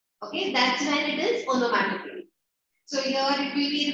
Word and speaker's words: onomatopoeia: The spelling is onomatopoeia, but the pronunciation is onomatopoeia.